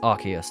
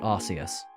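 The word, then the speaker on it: Arceus: It's Archus, not Arus. By the way, if you pronounce it Arus, you're just saying ass.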